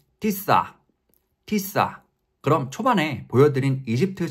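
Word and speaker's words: تسعة: 구는 우리가 쓰는 구의 모습과 비슷합니다 구 아랍어 발음으로는 티사 티사 그럼 초반에 보여드린 이집트 차량 번호판을 같이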